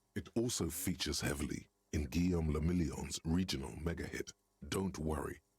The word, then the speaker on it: Guillaume le Million: Guillaume le Million, If it doesn't rhyme, you're not pronouncing it right.